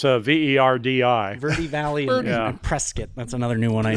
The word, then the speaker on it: Prescott: Verde Valley and Prescott.